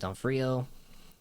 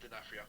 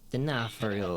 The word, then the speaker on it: D'Onofrio: Like, that's Vincent D'Onofrio. Hopefully I said that right. No, you did not. How do you pronounce it? Vincent D'Onofrio. D'Onofrio. Yeah, see, I'm... You gotta say Italian. D'Onofrio.